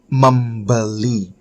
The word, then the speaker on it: membeli: you will speak more formally by saying saya membeli.